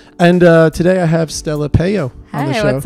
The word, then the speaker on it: Pejo: Mayo with a P.